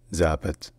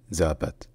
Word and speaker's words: запад: enfin en dernier l'Ouest en russe ça se dit zapat zapat donc dites-vous que c'est presque zapat sauf que le 2è a est plus relâché plus centralisé et aussi également qu'il y a le l'accent tonique sur la première syllabe donc c'est zapat zapat donc pour récapituler en